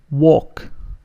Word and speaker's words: walk: And here the L is not pronounced, so we can say walk. Walk.